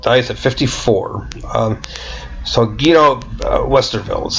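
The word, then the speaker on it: Westerwelle: So Guido Westerveld is how you pronounce that.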